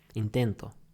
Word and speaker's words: intento: us later he tried intent intent he tried intento intento okay trying intent to try intento the